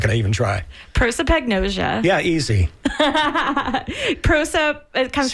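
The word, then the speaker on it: prosopagnosia: So but so you pronounce it for me because I'm not going to even try. Proipagnosia.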